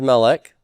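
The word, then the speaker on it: מלך: the word melec okay is melech a cigalette noun it most definitely is first syllable stress and the double cycle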